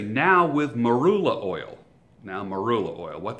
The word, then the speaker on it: marula: companies have conditioners they would say now with marula oil now marula oil what the heck is marula oil let me spell it m a r u l a marula